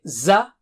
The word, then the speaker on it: زَ: Alright, so how do you say za? Touch the tip of the tongue to the edge of lower teeth and blow with a strong sound.